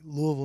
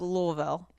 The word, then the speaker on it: Louisville: Louisville? You almost got it. I'd say locally it's the Ville is more Vul. Vul. Louisville. Louisville. Louisville. Louisville. Yeah. It kind of just like in the throat.